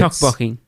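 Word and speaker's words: 떡볶이: And Tracy, you're going to have to tell us how to pronounce this one. It's Tteokbokki.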